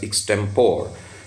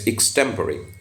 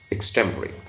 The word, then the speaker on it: extemporary: to deliver extemporary lectures now it's not extempore many people pronoun pronounce it as extempore it's extemporary extemporary um that is without